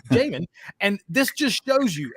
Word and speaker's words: Jamin: He said Yasmin, but on the freaking thing he's looking at, the colored thing on the fucking screen, his name is spelled Jasmine. Okay. It is. It's spelled Jasmine, and he tried to be smart about it. Well, it must be Yasmin. It can't be Jasmine. No, stupid. It's Jamin.